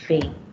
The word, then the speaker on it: fait: You pronounce it as fate.